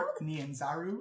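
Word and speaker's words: Port Nyanzaru: can you say that again what's it called Port nanaru it is spelled uh port and then n y a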